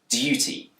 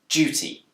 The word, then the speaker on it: duty: In Britain, this word can be pronounced with a d sound, duty. But it's also commonly pronounced with a j sound, duty.